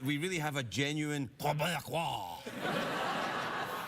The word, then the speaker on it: Québécois: There's a few simple tricks that we can perform to make sure that we really have a genuine Québécois. That's how you pronounce it.